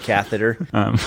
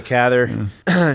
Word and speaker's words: Cather: of this book willing the catheter wanting to say catheter with a Cather to go and make